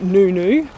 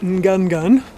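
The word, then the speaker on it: Ngungun: the hike up Mount Nunu otherwise known as gun gun actually correctly pronounced nunu the hike up Mount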